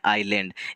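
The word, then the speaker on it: Ireland: Nations भी adjective है अब इसे आइसलैंड नहीं पढ़ने हैं इसे पढ़ने हैं आयरलैंड यश जो है यहां पर साइलेंट होता है आयरलैंड आते थर्ड एपिक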